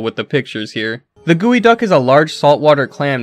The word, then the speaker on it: geoduck: Gooey duck. No, that's not pronounced geoduck like it should be. It is, in fact, gooey duck.